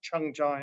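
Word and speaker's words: 청자: same two characters used in korean and japanese pronounced chung-ja in korean and seiji in japanese in in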